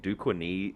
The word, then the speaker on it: Duquesne: still even with the modern era thing like duquesne is how you say it i have no